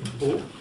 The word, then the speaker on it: Pau: Eh oui, Pau, avec un P. Alors Pau? Oui, comme ça s'écrit, pareil.